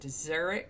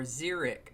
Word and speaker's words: xeric: Today's word is Xeric, and it can be pronounced Xeric or Xeric, either way.